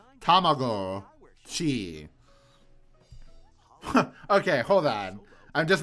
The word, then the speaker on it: Tamagotchi: See, this guy pronounces it correctly, motherfuckers. There are Not Tamagotchi. Get out of here. Tamago-chi.